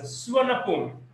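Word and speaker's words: สุวรรณภูมิ: The name সুবর্ণভূমি is pronounced as সুয়ানাপুম।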